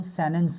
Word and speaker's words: sentence: सेंटेंस तो पहली बात यह कि अमेरिकन इंग्लिश में या एडवांस प्रोनंसिएशन में सेंटेंस को सेनेस कहा जाता है क्योंकि टी को यहां पर साइलेंट रखा गया कहते हैं ना कि